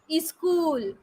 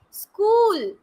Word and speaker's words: school: these words no right but people pronounce it as scream is cool scan no it is wrong that is school school he is screaming no